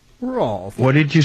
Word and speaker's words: Rolf: Was it ROLF or A? Rolf. Yeah. R-O-L-F. ROLF. Like rolling on the floor laughing, but Oh, is it LF roll? instead of FL.